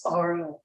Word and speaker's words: Bara: eyeliner and he's like name's bara it rhymes with sorrow but the most uh